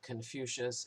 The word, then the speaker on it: Confucius: master kung but the the words were romanized or latinized and so we pronounce it Confucius and that's okay he